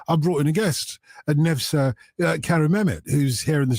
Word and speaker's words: Nevşah: Nevşah, first of all, did I get the pronunciation right? Yes, Nevşah.